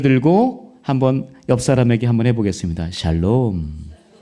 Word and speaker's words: 샬롬: 샬롬. 발음 자어야 돼요. 살롬 뭐 이러면 안 되고.